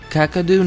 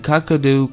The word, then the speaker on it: Kakadu: of Slovenia in Europe the name kakadu comes from the mispronunciation of Gagaku which is the name